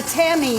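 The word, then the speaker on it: tamis: to put it through what's called um a c or a Tammy in French that's spelled tmis they sell these in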